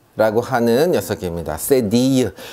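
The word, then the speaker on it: cédille: 이렇게 발음하시면 되겠습니다. 네, 이번에 배울 알파벳은요, 세디유 라고 하는 녀석입니다. 세디유.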